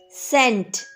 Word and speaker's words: cent: c e n t sent sent here c is before e so it says the sound of s sent sent soft c so right here c